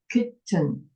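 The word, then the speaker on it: chitin: me all right so this word h doesn't pronounce it's silent h is here silent so uh you only pronounce c as a k so kitten kitten kitten okay like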